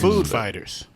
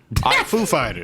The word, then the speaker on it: Foo Fighters: Food Fighters? Foo Fighters.